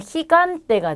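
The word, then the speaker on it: gigante: 자, 이 경우에는 흐 발음을 합니다. 그래서 얘는 히간테가 되고요.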